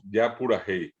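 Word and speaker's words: japurahéi: Depende, a veces es ña, a veces es ya. Sí. Como pura hey es oral, decimos ya pura hey.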